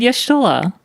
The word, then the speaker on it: Y'shtola: YouTube said Yashtola. Man, have I been saying it wrong? I've been saying... how... Yasholta? Yasholta?